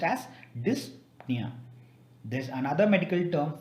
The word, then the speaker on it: dyspnea: in breathing it's called as dyspnea it is pronounced as dyspnea there is another medical term for gray lips